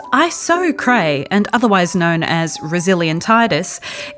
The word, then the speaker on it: Iso Cray: isocrae pronounced iso cray and otherwise known as resilientitis is a form